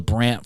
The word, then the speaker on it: Brandt: I think it's Back to the Streets and the Basquiat at the Grant Foundation, I believe it's. No, the Brandt Foundation. Rhymes with Grant.